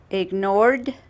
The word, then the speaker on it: ignored: Ignored the The king petition. ignored the petition. Perfect. Very good. Don't forget that when the word ends in ed, okay, we say ignored, okay.